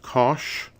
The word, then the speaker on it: cosh: have the hyperbolic cosine it's written Kos H pronounced cosh it's a cosh of X times y cosine